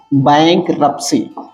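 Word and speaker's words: bankrupts: आप जानते ही है बैंक रप्स ध्यान देने योग्य बात यह है कि यहां पर प के बाद टी आता है जो कि साइलेंट है बैंक रप्स अगला शब्द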